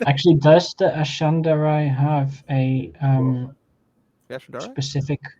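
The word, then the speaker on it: Ashandarei: To be fair, I think you can safely pronounce it as Ashandarai.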